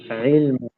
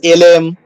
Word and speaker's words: ইলম: ইলম। দেখবেন কেউ কেউ বলে হলো এলেম, ঠিক আছে, বা এলম, অনেক উচ্চারণটা হবে হলো প্রপারলি ইলম, ই ইলম।